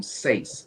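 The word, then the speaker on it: Sayce: all right archal and I I believe you pronounce his name sa s a y c e okay um I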